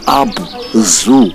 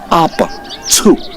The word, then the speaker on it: Abzu: And the truth, the right pronunciations is not Abzu as in animal zoo, no. It's Abzu. They pronounced the Z U as tsu and that is an African word.